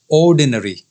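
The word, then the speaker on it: ordinary: है form form all right आगे का शब्द है ऑर्डिनरी हम इस शब्द को बोलते हैं ऑर्डिनरी नो आपको इसको इस तरह से नहीं बोलना है आपको इसको बोलना है ऑर्डिनरी नई नहीं बोलना है नई ऑर्डिनरी इसमें भी आर साइलेंट रहेगा क्योंकि उसके बाद में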